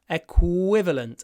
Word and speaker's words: equivalent: champans it's about equivalent with a nice W equivalent and to get the W remember you need to lower your jaw if you don't lower your jaw equivalent it doesn't sound right W equivalent equivalent of